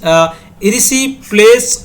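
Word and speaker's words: erysipelas: की पॉइंट की ओर मूव करते हैं iris रिसी प्लेस plays it इज a infection इसको क्या बोलते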